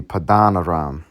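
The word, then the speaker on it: Paddan-aram: pad uh donam soak if I'm pronouncing it wrong let's just see what the uh blue letter says strong 6307 padan padan padan so it be padanam and salaka I was butchering it so he said uh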